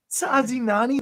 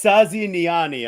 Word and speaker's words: Saziniani: Sazinani, that's how you say his name. That's awesome. Oh, it's Saziniani. I'm sorry.